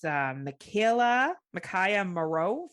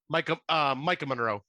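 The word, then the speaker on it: Maika Monroe: The young lady that is in this is Micaiah Moreau from It Follows. Yeah. Did I say it right? Micah Monroe.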